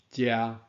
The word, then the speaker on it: 這: 即声驾就是即字的读音遮，安尼非常有道理，有无？